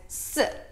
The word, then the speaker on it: 四: Now, 4 in Chinese, we pronounce it as 四, 四, 四. It sounds really, really similar to the word 死, 死. which means death. Now the tones are different, but it sounds really similar.